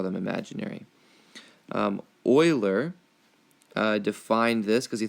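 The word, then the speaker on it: Euler: and don't be confused his name is said Oiler like the oil you put in your car to keep it lubricated um it's the proper way to say his name all right so let's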